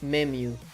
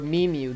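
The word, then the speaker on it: MEmu: It's called Mimu or Mimu depending on how you want to pronounce it.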